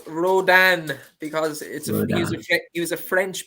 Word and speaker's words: Rodin: And the Aidan O'Brien horse, people are saying in the comments it's pronounced Rodin because he was a French painter, I'm sure, in many moons ago.